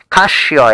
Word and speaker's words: Casio: Yes, cashio is actually how you pronounce it.